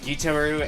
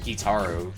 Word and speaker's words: Gitaroo: The game pronounces it both Gitaroo and Gitaru, so there's not really like a definitive pronunciation of it. It's one of those pronunciations.